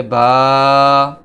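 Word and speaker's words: ب: দ্বিতীয় হরফটি হচ্ছে বা। এ বা হরফটি দুই ঠোটের ভিজা জায়গা হইতে উচ্চারিত হয়। এই দুই ঠোট মিলিত থাকা অবস্থায় এর ভিজা স্থান থেকে বা উচ্চারিত হয়।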